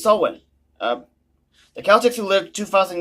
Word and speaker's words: Samhain: Halloween's origins date back to the ancient Celtic festival of Samhain, pronounced Samhain. Oh, it's Samhain.